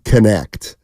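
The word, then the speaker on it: Knecht: dude in the country let me say it right it's Dalton connect that's he's mustat for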